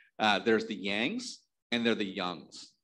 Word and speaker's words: Young: spelling y-o-u-n-g because it sounds more like the way our name should be pronounced in chinese right yang right uh and then